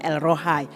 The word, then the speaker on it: El Rohi: Tulisannya El Rohi, membacanya El Rohai, Allah Gembalaku.